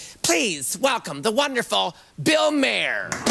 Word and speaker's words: Maher: or even think please welcome the wonderful bill Mayer how wonderful you're here thank you this is exciting thank you it's pronounced Mar do you know that film Bill oh my